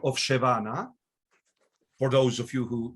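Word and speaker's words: שווא: Shva at the beginning of the word is shevana, is pronounced shva. So pronounce it. Pronounce it in the very word shva. You should say sheva berosh milah, sheva na.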